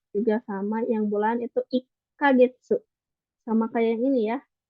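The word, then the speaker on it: 一か月: Ini juga sama, yang bulan itu ikagetsu. Sama kayak yang ini ya, pakai double gitu, ada tsu kecilnya. Ikagetsu. Jadi bukan ichi kagetsu, tapi ikagetsu gitu.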